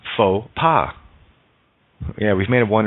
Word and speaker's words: faux pas: O does the work X is silent in faux pas yeah we've made it